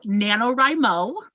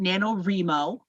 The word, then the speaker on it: NaNoWriMo: she talking about um so nanowrimo some people will also pronounce it nanowrimo they are wrong um is national novel